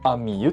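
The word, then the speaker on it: 実優: です歩く実際の実優しいにと書いてあみゆと呼びます勢いであゆみっていいそうになるんですけど正しくはあみゆですニックネームがアミ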